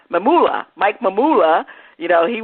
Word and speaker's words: Mamula: How you pronounce his name? Mamula.